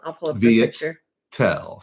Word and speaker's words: Viettel: Viettel. So Viet, like Vietnam, VIET I'll put it in the TEL.